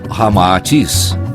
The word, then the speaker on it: Ramatís: unindo-se Rama e atis cita ao inverso resulta Ramatis como realmente se pronuncia em indo chinês informa Ramatis que após